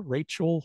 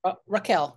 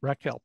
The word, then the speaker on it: Raquel: it is featuring a San Francisco police investigator Rachel Lang is that how you pronounce it Raquel Raquel Lang y ra Raquel thank you for correcting me by the way